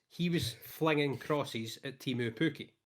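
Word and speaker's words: Teemu Pukki: The point is he was flinging crosses at Timu Pukki, right? Yeah. Or Timu Pukki, if I'm going to be a pronunciation guy.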